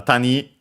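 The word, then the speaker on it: 谷: Uh tani uh accent on the uh last syllable. So yeah, tani low high uh valley ravine gorge canyon.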